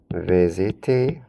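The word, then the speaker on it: visitent: Vous visitez.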